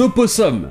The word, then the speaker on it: opossum: Et enfin, parlons des opossums. Cet animal aux États-Unis est appelé opossum, mais aussi simplement possum. Ça semble être une simple contraction. Dans opossum, la première syllabe n'est pas accentuée, donc on l'enlève.